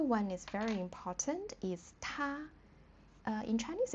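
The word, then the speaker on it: 她: And let's write the she or her, the pronunciation is also ta, but it's just Can you notice the difference?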